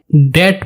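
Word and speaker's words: debt: कर्ज को हम इंग्लिश में डेट बोलते हैं। इसमें बी साइलेंट रहता है, डेट। कर्जदार को हम इंग्लिश में डेटर बोलते हैं, डेटा।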